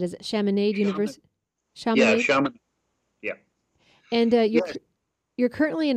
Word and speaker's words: Chaminade: You hold an MBA degree from how do I pronounce that? Is it Chaminade University? Yeah, Chaminade.